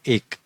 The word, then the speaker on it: एक: ठीक है, उसको मराठी में इस तरीके से लिखते हैं एक, और आपको आसानी हो इसलिए इंग्लिश में लिख के दिया हूँ एक। ऐसा उसका प्रोनाउंसिएशन होना चाहिए।